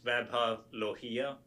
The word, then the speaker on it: Vaibhav Lohia: Sure, I think you were close. It's Vaibhav Lohia.